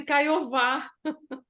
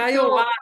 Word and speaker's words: Kaiowá: E quando você falou em Kaiowá, a gente chama de Caiová. É Porque Kaiowá, né? o W, né, o W, ele é pronunciado como U, igual o inglês, what, né?